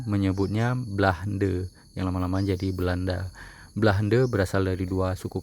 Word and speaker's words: Beulanda: Sedangkan dalam bahasa Aceh disebut Belanda. Hanya beda sedikit ya, dari be menjadi be. Be itu merupakan ejaan dalam bahasa Aceh yang biasa dipakai. Tulisannya BEU, BEU, tapi dibaca be dalam bahasa Aceh.